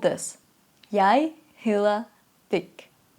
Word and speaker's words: hedder: Pay attention to the vowel you make, because hedder is the verb we need, and hedder, which sounds very similar, and the way it's spelled is similar to the verb we need, but the meaning is different. Hedder means I'm called, my name is, and hader means to hate.